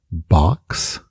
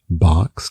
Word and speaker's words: box: As duas têm a letra O na escrita, mas o som na pronúncia é de A, bem aberto. Primeira palavra é box, box, que é caixa, box, não boxe.